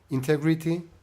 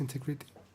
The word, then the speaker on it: integrity: honesty, integrity, innovation, and work and personal balance. How would you pronounce integrity? Integrity. Integrity. Integrity. Integrity. Integrity. The stress is on the e.